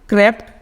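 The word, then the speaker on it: crept: अब क्रीप का क्या होगा, क्रैप्ट, क्रैप्ट। शॉर्ट साउंड करो, कीप, कीप माने रखना, तो ऐसा नहीं, किप नहीं बोला, कीप।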